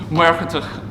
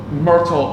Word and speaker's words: Muircheartaigh: current king of Thomond, Muircheartaigh O'Brien, or Murtagh O'Brien. I'm going to use the Irish forms, or try to use the Irish pronunciations as best I can, but there it is, Muircheartaigh O'Brien.